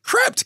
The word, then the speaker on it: Krept: __ ] they are I know how you pronounce it crept koe PT and KO na n Krept and Konan alright